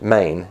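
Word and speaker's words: μήν: men m-e-n but it's pronounced main m-e-i-n or like the state of maine that's the greek word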